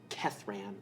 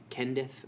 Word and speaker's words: Kethran: They're meeting someone named Kethran. I said Kendith or something.